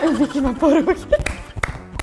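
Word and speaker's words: Vicks VapoRub: Vicky Vaporug. Vicks Vapor Rub?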